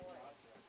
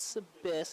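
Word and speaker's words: Saloys: Soloy, okay, Soloy. gotcha. Not Soloy. Oh. It's S-A-L-O-Y-S. Soloy is the man on the mound. Not Sabis, it's pronounced Soloy.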